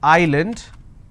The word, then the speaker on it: island: a word which is Island I don't pronounce this as Island so s is silent here okay for for example